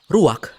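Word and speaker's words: רוח: kehadiran Allah secara pribadi kata dalam bahasa ibraninya adalah ruwak-ruwak benar tenggorokan kita harus benar-benar bersih di akhir pengucapan jadi apa itu eh ruwak dapat merujuk kepada sejumlah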